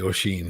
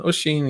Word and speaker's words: Oisin: O'Sheen, he pronounced my name perfectly. There's no way he would have known my name, probably. So it's a lot of people Oisin. get the name. It's Oisin. Oisin.